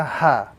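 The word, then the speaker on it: ح: This letter is the letter ha, or the small ha in the Arabic language. This ha is to be pronounced without any sort of force or any sort of emphasis.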